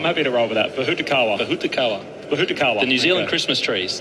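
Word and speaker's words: pōhutukawa: Oh, Jim pronounced it pretty well earlier. Bahutakawa. Yeah, I'm happy to roll with that. Bahutakawa.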